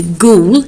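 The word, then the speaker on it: Goole: if you remember the inspector's name is inspector ghoul spelled g-o-o-l-e but ghoul when you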